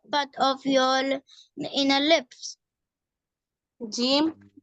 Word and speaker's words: جیم: جیم. It is pronounced when the middle part of your tongue touches the upper palate.